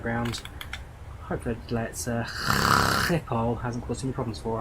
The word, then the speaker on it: Schiphol: pronunciating it, and so every time I now say Schiphol, I have to just really emphasise that phlegm that comes out of my mouth from it.